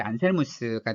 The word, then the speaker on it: 안셀무스: 이제 안셀름 영어식으로는 근데 원래 원어식 발음은 이제 안셀무스가 되겠죠.